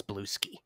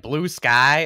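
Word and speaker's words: Bluesky: knows how to pronounce Blueski. Yes. Thank you. Because Steven's over here every week, he's like, Blue Sky, and I'm like, dude, it's all one word. It's Blueski.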